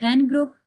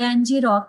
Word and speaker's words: ngrok: Best जो options है ना एक आपके पास होता है एन ग्रुप या इसको एनजी रॉक भी बोलते हैं। दोनों प्रोनाउंसिएशन इसकी यूज़ होती हैं। एनजी रॉक या एन ग्रुप।